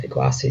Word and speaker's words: Iguacu: Do you Iguacu? Yeah. And that has the benefit of helping people understand how to pronounce it. So Iguacu is a word that means big water.